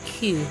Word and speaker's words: queue: because it's the fir the first one is the important letter and then followed in a line right behind it are silent letters that don't do anything yeah so it's like